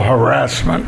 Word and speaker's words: harassment: I mean, I would think, wow, I mean, if you're not I always harassed, like to pronounce it as sexual harassment.